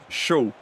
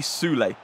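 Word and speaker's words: Süle: I think that's actually how you pronounce it. A lot of people was questioning how I pronounce Shul. But it's apparently Sule.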